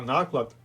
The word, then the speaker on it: наклад: друкованого видання одного випуску слово наклад Зверніть увагу на наголос перший склад має теж два лексичних